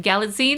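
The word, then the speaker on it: Galitzine: Galladine.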